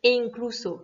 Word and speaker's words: e incluso: Donc, pour des questions de son et de facilité de prononciation, on remplace le Y par un E. Donc, ça donne e incluso.